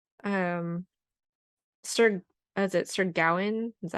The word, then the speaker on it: Gawain: And Sir is it Sir Gawain?